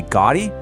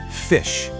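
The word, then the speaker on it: ghoti: Maybe goddy. Just take a second and lock in your answer. You got it. Okay, you ready for this? That word is pronounced fish.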